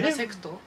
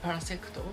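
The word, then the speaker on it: パラセクト: Parasecto. Ok. In Japanese pronunciation, parasecto, because we Yeah.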